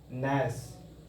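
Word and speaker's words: gnash: का फर्स्ट वड है नस नस स्पेलिंग देखि जी एन ए एस एच जी एन ए एस एच G silent है नस इसको पढ़ेंगे हम लोग प्रोनाउंस करेंगे नस नस मतलब होता है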